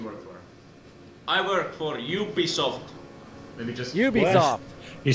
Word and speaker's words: Ubisoft: Not Ubisoft? I don't think so. Some people pronounce it as Ubisoft, but I pronounce it as Ubisoft. Ubisoft. Like unicorn.